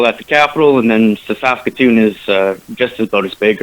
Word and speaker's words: Saskatoon: Saskatoon? How do you pronounce that? Yeah, no, you're right. Saskatoon is the city.